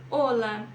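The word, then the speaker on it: hola: aqui é muito importante o h não faz som em espanhol em nenhuma palavra tá então Ola Oi a ser nunca ela vai ter som tá bom para aí na sua leitura hogar e Honor OK agora vamos para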